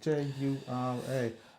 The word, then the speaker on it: Jura: I think I'm saying it right, Jura. Jura, yeah, it is Jura.